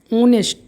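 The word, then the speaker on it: honest: ऑनेस्ट H silent है। ओ उच्चारण आ रहा है।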